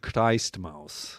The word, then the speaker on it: Christmaus: Die Christmaus, I think is the correct German pronunciation.